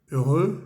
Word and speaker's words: heureux: La H no existe, no se pronuncia. EU se dice E y EUX se dice E también.